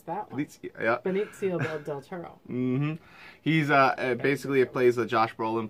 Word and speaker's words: Benicio del Toro: In this one, it stars Benedict Del Toro, Josh Brolin, also known as Thanos. Benicio. Yeah. I actually know how to pronounce that one. Benicio del Toro.